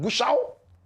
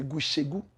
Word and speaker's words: Gushegu: I'm watching live from Gushao. Some people say Gushegu. I forgive you. You are not from the area, so you don't know the pronunciation.